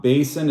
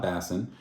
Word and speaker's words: BASN: by the way um Basin is how you pronounce it not Bassin um it is an